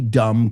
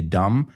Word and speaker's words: dumb: So quit asking me so many dumb questions. Tantas preguntas tontas. La B de dumb, totalmente muda, right?